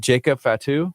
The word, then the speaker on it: Jacob Fatu: Hey, what's up with is it Jacob Fatu?